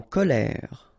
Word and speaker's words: colère: So e z amuser en colère. Ok remember accent grave et and then r. Ok you don't insist on the de e.